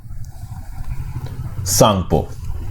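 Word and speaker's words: Tsangpo: इसका नाम क्या है सांगपो सांग पो जिसमें टी साइलेंट है तो आप सॉन्ग वो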